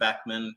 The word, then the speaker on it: Beckmann: I'll give you that in a second, but the easiest way is LinkedIn, and it's M Beckmann with 2 N's, second N is silent, and you'll find me there.